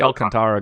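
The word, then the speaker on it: Alcántara: way that I'm supposed to say it's sandy Alcantara going for the Marlins and that's just what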